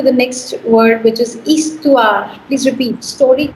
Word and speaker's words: histoire: More story. So no, story नहीं बोला मैंने इसको. Story नहीं बोला मैंने. I said histoire.Toire का sound है. ये Histoire.